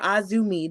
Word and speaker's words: AZM: And of course, this match was the triple threat match between herself, Hazuki, and AZM, or Azumi, depending on what your pronunciation is.